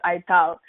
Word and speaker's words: Ithal: So always I joke that, I should be the lowercase and TH. We are all used to seeing iPhone, and then that's Ithal. That's how we pronounce my last name.